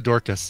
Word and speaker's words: Dorcas: the full story though and how is it pronounced it is dorkus Dorcas Riley it is really Dorcas yeah she's she died of Alzheimer's disease it's